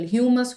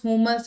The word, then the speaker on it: hummus: hummus sauce right uh a lot of pronunciations of hummus are actually acceptable humus humors hummus right so uh with